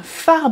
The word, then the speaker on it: phare: tu peux voir un phare breton. Auf dem Deckblatt der Abenteuer von Kaz kannst du einen Leuchtturm sehen. Ja? Und das schreibt man auf Französisch mit PH, also P-H-A-R-E, phare, le phare.